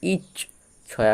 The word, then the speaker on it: ইচ্ছা: তাহলে এক্ষেত্রে এই হসয়ের সাথে চটি উচ্চারিত হবে ইচ আর ছয় আকার ছা তাহলে হসয় চয়ে ইচ ছয় আকার ছা ইচ্ছা নেক্সট আছে উচছে হসু চয়ে